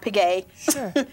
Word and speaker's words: Pegues: wrong you know my my name's kind of hard pay sure some people say I'm like oh no no no no no that's not it you know but it